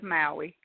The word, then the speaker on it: Maui: now am I pronouncing your name correct are pronouncing it correct it is Maui okay good good so tell me how did